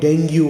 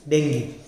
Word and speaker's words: dengue: we start with dengue many people call it dengue also but the correct pronunciation is dengue it is basically african word derived from the